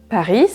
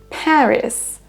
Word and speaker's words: Paris: On ne dira pas donc Paris, mais Paris. Paris. On accentue sur la première syllabe.